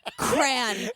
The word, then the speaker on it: crayon: the Y and crayon crayon get out of here right it is it is in fact two syllables it is there's a y in there girl yeah and so